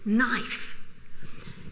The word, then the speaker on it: knife: Now we look at this knife. So, whoa, if I was going to invent a word, would I put K-N together? No, but they actually pronounced that. It was knif.